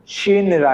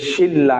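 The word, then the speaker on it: 신라: কি উচ্চারণ হবে ল মূলত উচ্চারণ হওয়ার কথা ছিল কি শিন শিনরা কি হওয়ার কথা ছিল শিনরা কিন্তু শিনরা না হয়ে কি হবে যে শিল্লা কি হবে লা তাহলে এটা কিভাবে হবে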